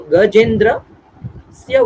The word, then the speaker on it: Gajendrasya: Actually, it is Gajendrasya. Gajendrasya. It is 4 syllables are there in one word, but we have to follow that prosody.